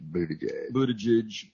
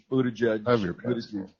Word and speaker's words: Buttigieg: Mayor Pete Buttigieg. Buttigieg. Yeah, I mean Trump. One syllable, Trump. You can't mess up the name. Just go with Butt.